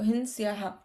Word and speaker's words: हिंस्याः: पहले वो ही पे छोटी, सॉरी, ही पे डॉट है तो वो हिंस्या, और फिर विसर्ग का हा उच्चारण आएगा तो हिंस्याहा।